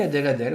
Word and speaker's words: Adèle: Je pense que c'est Adèle. C'est Adèle? Je pense que ça se prononce comme ça. Ah oui, Adèle, ouais, c'est ça.